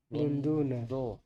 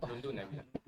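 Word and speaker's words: لندنَ: Cara bacanya apa? Lunduna. Lun lun luna, luna, lun di doma. Ustaz doma lunduna. Lunduna. Lunda. Lunduna. Lunduna. Berarti semua lundun yang ujung yang fathah yang ujungnya saja ya.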